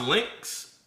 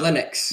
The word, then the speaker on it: Linux: So, is it is it is it pronounced Lynx? Uh Linux.